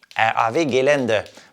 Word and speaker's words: RAW Gelände: Et bien sûr, le W se prononce V en allemand. Donc, RAW Gelände.